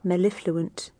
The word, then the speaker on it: mellifluent: So here's how we pronounce this. Mellifluent.